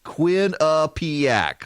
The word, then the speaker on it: Quinnipiac: Kwin, Quinn, P-E-A-P ACK, ACK, Quinnipiac, the Quinnipiac University National Poll.